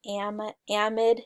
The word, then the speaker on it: amide: um others that will talk about proteins have amide is how you pronounce it amide groups um a nitrogen containing